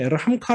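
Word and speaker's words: אֶרְחָמְךָ: 자의 신이 하나님 4제 에런 카 라고 4 저는 이러한 카 라고 발음해야 된다고 생각하지만 어쨌든 에러 1 카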